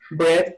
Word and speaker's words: bread: Bread. Aquí la A no suena.